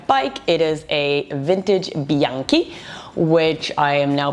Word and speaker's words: Bianchi: love love my bike it is a vintage Bianchi which I am now pronouncing properly because I did not pronounce it